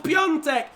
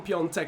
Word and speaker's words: Piontek: Like, I'm not going to lie, if there's anyone Polish watching this, the N sound, I mean, there's just not an N in his name, so that's pretty much the reason.